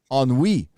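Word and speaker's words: ennui: gary he knew an enu is a french word pronounced oh on we so gary on we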